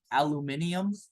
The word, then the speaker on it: aluminium: I want you guys to write the ground state electron configuration of aluminum. Aluminum. Did you know in Australia they call it aluminium?